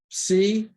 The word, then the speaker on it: psi: Psi, P-S-E-E, psi, and it's the P-S, as in lips, ps.